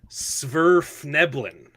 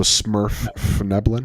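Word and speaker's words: Svirfneblin: It's Sverfneblin. Smurf. So much better. Sverfneblin. So Smurfneblin? No. V. I'm kidding. SVIR.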